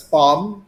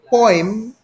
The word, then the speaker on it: poem: a number of times i've heard people pronounce it as palm it's not because if people insist that the word be pronounced as palm then the person who makes it will be pronounced as spot doesn't sound right if there are others who pronounce it as poem maybe you've heard of some then the person who makes it is known as a poet does it sound right